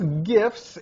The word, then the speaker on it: GIF: Anyway, you also say the photos, GIFs, and videos. With an asterisk, I share your opinion of how to pronounce GIF. Hard G, like gate.